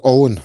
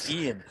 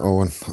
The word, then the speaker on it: Eoghan: That is Owen, believe it or not. Owen. Well, we weren't right. Justin was closest. He thought it could be Ian. Yeah, Owen. That one is in Gaelic. Owen Levin against Liam Walsh, undefeated guys.